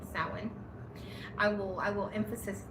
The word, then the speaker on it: Samhain: So sin again, not Sam Hayne sin.